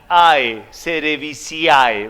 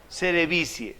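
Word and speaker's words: cerevisiae: digan a este sabe cuando se une la a y la e se pronuncian como si fuera e nada más cómo se leería seré cerevicie entonces si yo los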